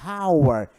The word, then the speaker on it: hour: pronunciado eu sou um DH aspirado então a pronúncia ela começa a partir da vogal our não é our é our então quando eu digo our Então